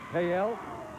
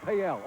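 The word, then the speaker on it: Pe Ell: And it looks like it's spelled P-E-E-I-I. Is that a town? Or is that a condition? I have no idea. But anyway, we'll find out. Payel? Oh, that's Payel. Okay. I didn't realize it spelled like that.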